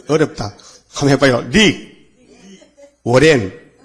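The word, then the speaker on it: Rick Warren: 릭 워렌. 자, 발음이 들어가요? 릭 워렌.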